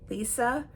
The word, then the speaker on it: Elisa: to my channel um my name is Elisa pronounced uh Lisa no one can ever pronounce it right so uh friends and